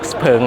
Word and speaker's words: Xpeng: เป็น ทาง การ แล้ว ออก เสียง ว่า x เผิง นะ ครับ ส่วน ชื่อ ใน ประเทศ จีน ที่ เขา ทำ ตลาด เนี่ย ก็ อ่าน ว่า เสี่ยว เผิง สำหรับ รถ ยนต์ ไฟ